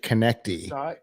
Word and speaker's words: Connect-I: I like that it's actually Connect-I, which suggests that you would pronounce it Connecty.